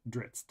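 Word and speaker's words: Drizzt: but uh it's very he always pronounced it dritz now a lot of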